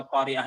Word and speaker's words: القارعة: Di antaranya perhatikan selalu dalam pengucapan huruf H setiap akhir kata pada surah Al-Qari'ah ini. Tolong diucapkan haknya Al-Qari'ah. Al-Qari'ah sebab ada di sana yang tidak mengucapkan haknya.